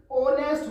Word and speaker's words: honest: अब मैंने यहाँ पर एन क्यों लिखी है दोस्तों, ऑनेस्ट का प्रोनाउंसिएशन ऑनेस्ट होता है, भले ही ये एच से शुरू हो, प्रोनाउंसिएशन मैन होता